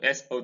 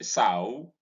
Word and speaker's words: sow: sao s o w this is sao pronounced sao when it means a female pig but when it means to plant to sow a seed for instance does to plant and it pronounced so but right here when